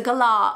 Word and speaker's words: galah: say you can't say Kalaa cockatoo it's a gala or a cocky and the thing is sometimes